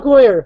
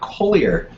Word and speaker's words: Kohler: Kohler. Who is Kohler? Kohler, not Collier. Kohler. There's no I in that.